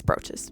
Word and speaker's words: brooches: It's brooches.